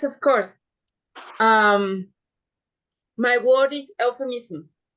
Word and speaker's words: euphemism: see there um the for the first syllable is a stress because we say you is there's that little